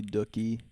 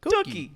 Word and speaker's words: Dookie: It probably Dookie. Dookie. Why'd you I've say never it like heard that? someone pronounce What it Dookie.